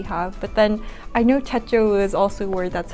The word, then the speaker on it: Techo: But then I know techo is also a word that's hard to pronounce in English, you know. And how do you pronounce it? Techo. It's not techno? It's no techno, it's techo.